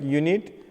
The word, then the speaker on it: unit: And when the same word unit, no, y, this is pronounced like y as a vowel sounds, because unit is pronounced like unit with a consonant sound, we take article a.